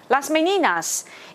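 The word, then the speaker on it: Las Meninas: 一定要念，所以呢，Las Meninas is one of the most unique compositions。OK，来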